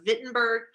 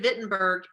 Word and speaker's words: Wittenberg: to the university of wittenberg i know it's spelled with a w but it's pronounced with a v okay so the university of wittenberg the city of wittenberg was in the holy